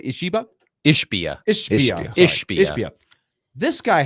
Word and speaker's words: Ishbia: Ishbia.